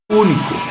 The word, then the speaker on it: único: Después dice único. Único también es esdrújula, esa palabra.